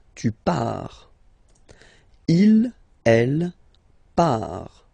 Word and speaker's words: part: Il, elle, part, final T not pronounced, il, elle, part, okay, so you can